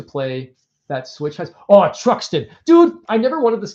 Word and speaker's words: Truxton: That's how to pronounce it, Truxton.